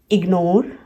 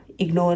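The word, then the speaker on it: ignore: जैसे इग्नोर, इग्नोर में IG है, इग एंड नोर, इसके बाद में ये सिलेबल स्प्लिट हो रहा है।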